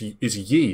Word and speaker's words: Yi: It's Yi, isn't it? When I've seen them play, they're like Yi, E or whatever. Yeah, it's pronounced E. Right, E.